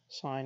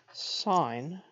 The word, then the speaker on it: sine: the distance from zero on a number line sine is defined as just the ratio of the opposite side of a right triangle over its hypotenuse we pronounced sine sine please don't say sin cosine please don't